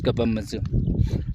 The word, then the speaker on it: Kapamodzu: Hello everyone, welcome to Kapamodzu. Kapamodzu. I don't know how to pronounce. Yeah, it is Kapamodzu.